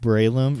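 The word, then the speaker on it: Breloom: kind of look like rope i got a bree loom which is the evolve form of shrew moosh pronounced braelum brave your i should but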